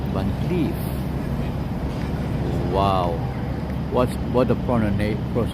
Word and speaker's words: Van Cleef: So we can now take a peek of the Van Cleef, not Van Cleef, Van Cleef. Wow, what a pronunciation from, right?